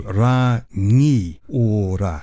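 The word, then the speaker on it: Rangiora: way back when that the NG it's a bit like when you say sing, your tongue hits the roof of your mouth. And it's like, so it's not na, it's nga.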